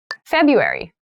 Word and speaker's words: February: cold here in january february february february so february has an interesting spelling that first r isn't really pronounced february is the shortest